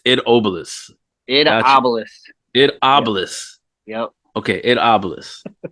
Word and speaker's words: Obelus: no harm no foul it's pronounced ID as one word obelisk okay it Obelisk yeah